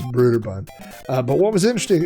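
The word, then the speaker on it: Brøderbund: broderbund some people say broader bund and then we found you know the official pronunciation was brutaband uh but what was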